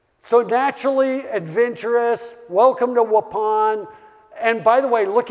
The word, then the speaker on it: Waupun: a little town called Waupun the only reason I remember how to pronounce this because it's like please pass the gray Poupon you know that's how I